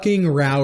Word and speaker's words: Row: row your boat down the rau River I hate that it's pronounced like that it is know how to